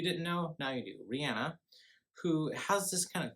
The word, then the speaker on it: Rihanna: Powers Goldmember dream girls and obsessed we have Rihanna and I actually was doing some research recently on how to say her name because everyone says Rihanna but everyone's awesome one says Rihanna so I said I'm just gonna look up